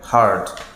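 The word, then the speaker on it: heard: একইভাবে ফ্লাই flu flown হিয়ারের উচ্চারণ আমরা করে থাকি হিয়ার কিন্তু উচ্চারণটা হবে হার্ড একইভাবে উইন এর উচ্চারণ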